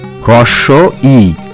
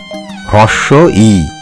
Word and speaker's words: হ্রস্ব ই: তোমরা এই বর্ণটিকে বলবে হ্রস্ব ই, মনে থাকবে তো? আর অন্য কোনো উচ্চারণ শুনলে বলবে সেই উচ্চারণটি ভুল। এর সঠিক উচ্চারণ হবে হ্রস্ব ই।